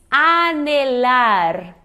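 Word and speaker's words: anhelar: É um verbo e se diz anelar. Anelar. Muitas pessoas veem o NH e dá muita vontade de fazer esse som do português do NH, né?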